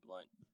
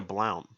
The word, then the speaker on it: Blount: it was as Blount. Blount? Blount. Nah, dude, my middle name's something else, but like my last name is Blunt. It's spelled with a O, but that's how you pronounce it.